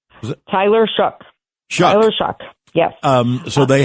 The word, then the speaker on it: Shough: How do you pronounce the name? Is it Taylor Shock? Tyler Shough.